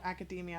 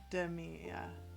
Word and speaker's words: academia: My job is literally called academia, and I still say it like demia.